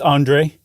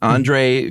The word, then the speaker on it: Andrzej: She met a guy named how would you pronounce that? It's Andre. Oh, it is? Andre Kowarski.